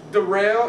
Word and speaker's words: Daryl: yeah uh my name's derell it's spelled like Daryl but it's pronounced derel and I just want